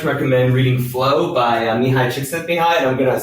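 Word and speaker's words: Csikszentmihalyi: would very much recommend reading flow by mihai chick sent me high and i'm going to spell that because it's hard to pick out it's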